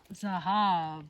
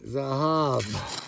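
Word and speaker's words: זהב: Zahab. Spell it. Zayin. Uh-huh. Hey. Hey. Bet. Exactly. Zahab.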